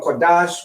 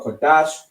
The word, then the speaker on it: Qadash: So we have a da and a sha, which makes pronounced dash. Lashawan Qadash, which in the English